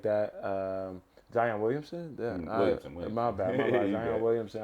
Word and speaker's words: Williamson: Hopefully we can get somebody like Zion Williams in a situation like that. Zion Williamson? Williamson. My bad. Zion Williamson. I actually have heard it said both ways.